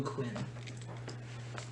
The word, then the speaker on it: Quen: So he tells you that there is a tattoo shop called the Blue Quinn, and it's spelled Quen.